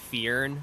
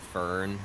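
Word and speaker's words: Firn: Fear, but it's spelled F I R N. And everybody calls it Fern.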